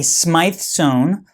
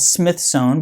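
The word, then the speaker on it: Smyth sewn: my video okay getting to the inside a SMI Zone often called Smith Zone but it's pronounced SMI zone is a basically a way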